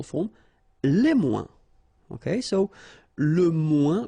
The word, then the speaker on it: moins: Okay, so le moins, remember when we combine this O-I-N together, we get the sound ouin, ouin, okay, and we don't pronounce this final S.